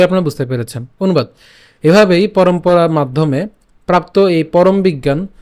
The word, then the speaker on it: পরম্পরা: ঠিক আছে এবং পরম আমরা এখানে ম পর্যন্ত উচ্চারণ করব পরম তো বাকি অংশ থাকবে পরা তাহলে পরমপরা পরম্পরা সোজা কথা ঠিক